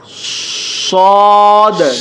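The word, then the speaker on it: ص: Scene সদ, সদ এই হরফটি ঠোঁটগুলো গোল করে এরপর উচ্চারণ করতে হয়, ঠিক এরকম।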